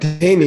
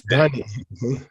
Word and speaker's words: Donnie: This It's not Danny, it's Donnie.